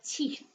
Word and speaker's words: teeth: So it's not teeth. It's not I brush my teeth. My teeth. Th. On the end is really important.